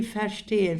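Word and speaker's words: verstehen: pardon de fen ve lütfen benim telaffuzuma da dikkat edinteyen derken bakın nasıl basıyorum Ferteyen zaten F'yi F diye algılıyoruz. Ferşteyen derken st sesi çıkıyor ağzımdan ferteyen olarak çıkıyor.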